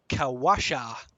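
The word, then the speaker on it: Qawasha: It's a Chilton name, so I'll see if there's a pronunciation of it. Probably isn't. Bouquet instead of bucket. Yeah. Oh, there is. Yep. Kawasha.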